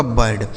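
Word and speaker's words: bird: इस आई का उच्चारण अ हो जाएगा। आर से र बनेगा और डी से ड। ये हो गया आपका बर्ड।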